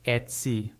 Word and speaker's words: Etsy: Just remember, for this brand name in English, you'll want to keep it as Etsy with that short e and the clear c at the end.